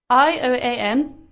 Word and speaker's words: Ioan: Pronounce it. Ioan.